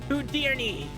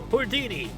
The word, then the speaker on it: Houdini: Uh, first of all, it's pronounced Houdini. No, Hordini. It's Why are you both saying it with an R?